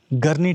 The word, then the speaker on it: Garni: और अभी एग्जैक्टली मेरे सामने है द ग्रेट अर्मेनियन गर्नी टेंपल। और जो अरर्मेनियंस है उसको गारनी बुलाते हैं basically. So whatever you can pronounce it's fine.